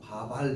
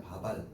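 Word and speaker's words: 밥알: 발음하면 어떻게 될까? 바발 이렇게 발음될 거 아니야. 바발.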